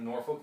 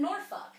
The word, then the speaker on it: Norfolk: mean to be fair you're not really supposed to pronounce the L anyway noruk yeah it like